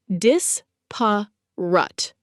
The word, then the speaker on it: disparate: Disparate, pronounced dis-pa-rut.